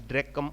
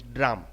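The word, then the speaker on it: drachm: to one drug drum drum sometimes some people pronounce this as dracum odrachum but normally the correct pronunciation is drum then 480 grains are equivalent to 1 ounce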